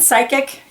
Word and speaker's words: psychic: Yeah, the P is not sounded, it's silent. And the silent P on Ptolemy, and psychic, and pterodactyl again. And psoriasis.